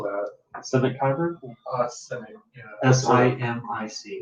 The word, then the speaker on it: Simic: Simic. Yeah. S-I-M-I-C. It's got a lot of eyes. Like mimic, but with an S.